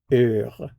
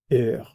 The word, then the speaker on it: heure: heure, heure. Now, heure begins with a vowel sound because the h is silent.